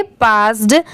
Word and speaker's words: passed: इसे हम क्या पढ़ेंगे, पास्ड। अब जैसे देखिए PASS, ये क्या होता है इतना, पास, और लास्ट में यहाँ पर भी अगर ED लग गया तो इसे क्या प्रोनाउंस करेंगे? पास्ड।